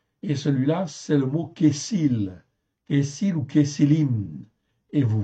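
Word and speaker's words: כסיל: C'est le deuxième mot en fait ici qui est traduit par insensé en fait ici et celui-là c'est le mot kessil.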